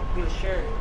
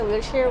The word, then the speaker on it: Wilshire: Oh, hirap pronounce na Wilshire Western Wilshare Wilshare. Kinorrect ako nit Wherest pala. So ayan nandito na tayo sa Wilsher Western and ito na